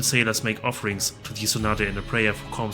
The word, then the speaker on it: Isonade: Water elemental pronounced Isonade.